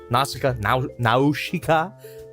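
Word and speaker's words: Nausicaä: Nausicaa. That's how they pronounce it in the film.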